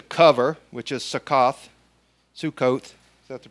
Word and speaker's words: Sukkot: upon yourself to cover which is sack off Sukkot that's the pronunciation then Ethan strong steadfast firm the next